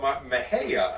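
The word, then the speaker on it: Mexia: and he was uh born in a little town called mahaya i think uh it's pronounced m-e-x-i-a uh but is consistently mispronounced by everyone who tries themselves and uh it even has some sort of a model that you know we're a lovely town even if you can't pronounce our name or something like that's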